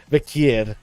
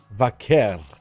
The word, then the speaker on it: Vaquer: And as for Stephanie Vaquier, just quietly. Still can't get her right. Still can't get her. Well, wait, what am I doing right? Is it Vaquier? Vaquer. There we go. I said it right.